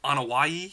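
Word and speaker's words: Anoa'i: How do you pronounce their last name? The Anawai.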